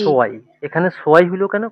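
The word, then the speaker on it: zwei: টু, দুই, জি জি সোয়াই। এখানে সোয়াই হলো কেন? কারণ এই যে ইআই একসাথে থাকলে এটার উচ্চারণ হয় কি?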